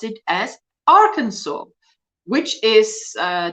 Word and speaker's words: Arkansas: Americans pronounce it as Arkansas which is uh doesn't make sense to the the way that it's written but now that's probably